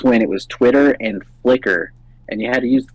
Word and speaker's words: Flickr: There's no E. I remember it's just Flick R. Oh, Flickr. Yeah, I can't even remember. It was over 15 years ago. I think it's pronounced Flickr, but I was just saying.